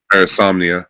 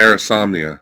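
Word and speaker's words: Parasomnia: Parisomnia. Peromnia. There you go. There you go. Parisomnia. Parisomnia. think Insomnia but with parah insomnia.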